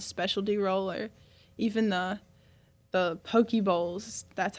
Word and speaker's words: poke: Oh, I like all kinds of sushi, but I usually get like any kind of specialty roll or even the poke bowls.